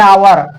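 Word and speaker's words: hour: एन आवर आवर एच ओ यू आर आवर शब्द का एच जो है आ की तरह हो रहा है उच्चारण इसलिए एन का प्रयोग पहले किया गया है।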